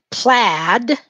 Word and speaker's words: plaid: All right, plaid is the next word we're going to use. Plaid. Well, it's spelled P-L-A-I-D. I guess the I is silent.